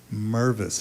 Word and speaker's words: Mirvis: have the great Tova Mirvis. I'm told it's Mirvis. It rhymes with nervous.